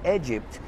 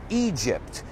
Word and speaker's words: Egypt: In fact, inside this building, you'll find pieces of the Taj Mahal, the pyramids, cuidado con la pronunciación, pyramids of Egypt. No es Egypt, it's Egypt.